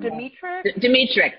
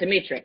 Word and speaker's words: Dmytryk: I never pronounce it right. Is it Edward Dmytryk? Dmytryk.